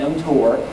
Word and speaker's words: mTOR: uh scientists love acronyms we call it mtor because we don't like to pronounce all the other letters mtor it's an enzyme that